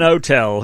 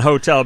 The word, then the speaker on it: hotel: that's very nice and hotel because you don't do a consonant with an n but if you don't say the h o tell becomes a word that begins with a vowel that's correct very good